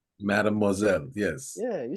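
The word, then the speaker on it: mademoiselle: say that Madam how you say it Madam mad moelle Madame moelle yes yeah you said it right whatever what's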